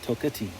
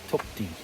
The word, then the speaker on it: Toketee: I was saying Tokatee. Toketee.